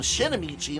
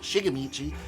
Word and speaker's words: Shigemichi: his name really well i kept calling him shinomichi not shigamichi so i just started